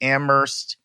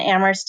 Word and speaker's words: Amherst: mercy D you and Amherst is a mhm ers T the H is silent that's a little fun fact on everybody knows so Amherst edu slash campus life